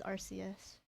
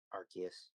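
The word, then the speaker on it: Arceus: I think it's called I think it's pronounced as RCS. Archus. Archus. Yeah. Well, I mean, it doesn't really matter. It's either what you're preferred. I just say Archus. You can say RCS.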